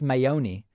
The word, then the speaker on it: Mayone: have you heard of christine mayone pronounced mayoni she's a progressive youtuber